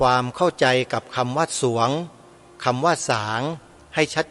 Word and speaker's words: สรวง: แหวน งู อ่าน ว่า สรวง โยม ออก เสียง ร เรือ ไม่ ได้ เพราะ ส เสือ นำ ใคร ออก ส เสือ